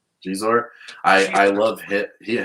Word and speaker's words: Xizor: Xizor Xizor.